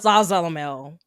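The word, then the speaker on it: Zasalamel: Can we just talk about Zazalamel? That's how you Zaza.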